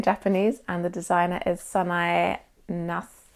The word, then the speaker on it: Nasu: and the designer is Sanae Nasu? Probably Sanae Nas, because you don't always say the U at the end of Japanese.